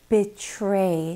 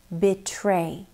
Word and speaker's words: betray: betray. 스펠링은 be 이지만 발음은 betray.